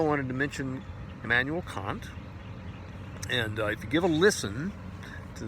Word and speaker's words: Kant: of these guys names Immanuel Kant is the way I pronounce it the Brits say Kant and they have to